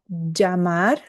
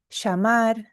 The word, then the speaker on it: llamar: Então, hoje, nas minhas aulas, eu pronuncio assim, ó, llamar, llave. Ou outra palavra como exemplo, llorar. Llamar, llave, llorar. Se você for para Buenos Aires ou para o Uruguai, você vai ouvir a pronúncia diferente. Você vai ouvir assim, ó, chamar, chave, chorar.